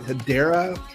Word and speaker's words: Hedera: launched on habar's head I think they they pronounced it hedera Network and the project